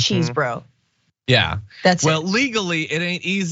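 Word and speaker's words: Chesebro: then five is Kenneth chesbro cheese bro some sort of bro there had gotta be if you're gonna say it say it right it's cheese bro yeah that's it well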